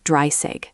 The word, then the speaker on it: dreißig: Note the spelling with the special character beta and the pronunciation. It's roughly dreißig. So 30 is dreißig and 13 is different.